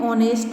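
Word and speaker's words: honest: रहा है, इसलिए हमने यहाँ पर लिखा एन ऑनेस्ट मैन, एन एम एल ए एन एम पी ई टी सी।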